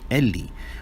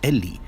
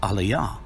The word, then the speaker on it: Eli: What actually appears in Matthew's text is eta, lambda, iota, which conveys the pronunciation eli. What this shows is that we have an ancient text taking the position that the word is actually pronounced Eli.